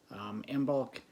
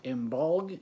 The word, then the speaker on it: Imbolc: Imbolc is also pronounced Imbolg.